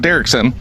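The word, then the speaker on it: Derrickson: family in danger so interesting thing Scott uh derkson is that how you pronounce his last name oh I did okay cool Scott derkson um this is what I was talking to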